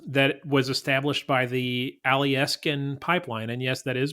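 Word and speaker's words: Alyeska: fund in Alaska that was established by the alieskin pipeline and yes that is pronounced correctly that um each he each resident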